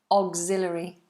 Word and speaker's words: auxiliary: says please pronounce auxiliary auxiliary it's almost like an a sound auxiliary auxiliary um Okay